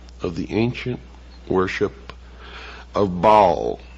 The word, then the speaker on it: Baal: the ancient worship of Baal our bail is some pronounce it ma was the son